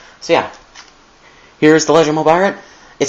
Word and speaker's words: Mobirate: I'm agreeing with Dawson Rider because it doesn't seem right for the nomenclature, It's pronounced Mobirate, I think, in the show, by the way that the Japanese actors talk, because they're Japanese, and it should be spelled Mobirate on there.